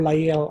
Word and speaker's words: Lyell: Later on, there was another idea that was proposed by a contemporary of Darwin, and this was Charles Lyell, or Lyell as some people pronounce it.